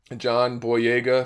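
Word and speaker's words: John Boyega: a lot I really liked her character um John boa that's how you pronounce his name he did a good job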